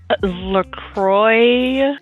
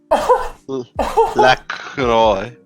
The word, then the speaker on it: La Croix: LaCroix. Milk. La Croix. Oh, my head aches back. X is silent.